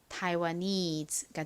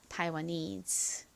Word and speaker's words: Taiwanese: 그 다음 N의 뒤에 모음이 있기 때문에 N이 이렇게 니은 받침으로 들어가는 것이 아니라 그 모음과 연결되어서 소리가 납니다. N의 니은 소리에 ESE는 is 소리가 나죠. 그래서 연결해보면 Taiwanese가 됩니다. Taiwanese.